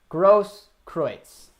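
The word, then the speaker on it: Großkreutz: But we got a nice pronunciation of it. Grosskreutz.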